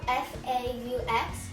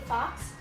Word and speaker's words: faux: And it's spelled F-A-U-X. So some people might say fox, it's faux.